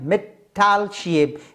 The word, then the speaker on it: Mittelscheibe: M line form from the German word Mittelscheibe pronunciation Mittelscheibe means middle disc as it is present in